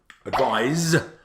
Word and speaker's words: advise: But advice and advise aren't quite homophones.